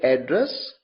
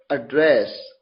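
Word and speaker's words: address: तो जब एड्रेस को जब इस particular word A double D आर E double S को एज अ नाउन यूज किया जाएगा तो आप से प्रोनाउंस करेंगे एड्रेस जिसका मतलब है पता और जब इसे एज अ वर्ब प्रोनाउंस किया जाएगा तो इसे प्रोनाउंस करेंगे एड्रेस जिसका मतलब है संबोधित करना हाउ डू आई एड्रेस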